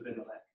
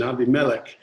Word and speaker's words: Abimelech: I like the way you started with the Hebrew pronunciation, Abimelech, and then you switched to the English pronunciation, Abimelech, which is fine.